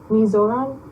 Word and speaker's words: Mizoram: Out of all the countries, I think India was like the best because like the people is so nice and Mizoram is how you say it?